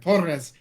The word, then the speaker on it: Torres: Gotta roll your R's there a little bit. Torres.